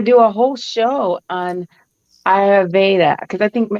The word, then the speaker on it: Ayurveda: But I think I got to do a whole show on Ayurveda because I think, am I saying it right? Ayurveda? Yeah. Ayurveda. Ayurveda.